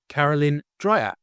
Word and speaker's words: Caralyn Dreyer: Welcome to Carolyn Dryer. Hello. Did I pronounce that right?